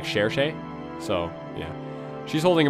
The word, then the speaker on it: Cherche: seal uh yeah sure shea is holding one which by the way it is pronounced like cherche so yeah she's holding